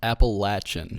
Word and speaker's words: Appalachian: to clear up though it's pronounced appalachin yes it's not it's not app thank you God stop saying it that way no here's here's what